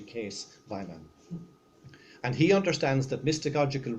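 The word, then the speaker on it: Kees Waaijman: No, but Kees, I called him Kees Weiman for a number of years until I discovered the pronunciation in Dutch is actually Kees Weiman.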